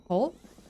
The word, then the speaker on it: Havre: Havre, pronounced like havre, where have rhymes with glove.